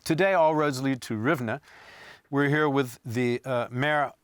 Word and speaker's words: Rivne: Rivne. I use the Polish pronunciation.